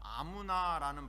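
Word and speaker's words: אמונה: 여러분, 하박국 2장 4절, 오늘 본문 로마서에 나오는 인용되었던 그 믿음, 이 믿음에 대해 히브리어는 이 에무나, 아무나라는 발음을 갖고 있는데요.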